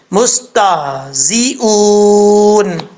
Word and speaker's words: مستهزئون: سیٹی نہیں نکل رہی، تو یہ غلط طریقہ ہے. صحیح طریقہ کیا ہے؟ زی، یہ والی آواز آنی چاہیے. اوکے. مستہزئون، اس طریقے سے آپ نے پڑھنا ہے.